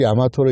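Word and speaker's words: 大和: 야마토로 읽을 수가 없어요 화라고 썼는데 한자로 그거를 야마토로 읽을 방법이 없어요 그런데 야마토 아고 읽어요 그 얘기는 야마토가 먼저 있었고 한자는 나중에 아테지 그래서 붙인 거예요 그래서 야마토에 대한 유래도 야마토는 국가가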